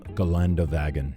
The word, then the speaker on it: Geländewagen: point of order, Americans, it's G-Wagon with an E, not with an O. The German name, Geländewagen. Just like the German Porsche versus the American Porsche, I will pronounce it in this video as the proper German G-Wagon, not the American G-Wagon.